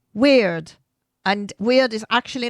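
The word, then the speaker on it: wyrd: And the first concept we're looking at is called weird. And weird is actually not spelled as weird as in odd or strange. It's spelled W Y RD and it relates to the web of interconnection.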